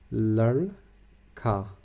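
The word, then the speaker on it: لڑکا: Capital R mean re sound, not re. So we are pronouncing this word ladka.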